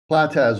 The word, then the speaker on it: Platas: Patax. Approved. Am I pronouncing your name right? Platas works. Platas. Okay.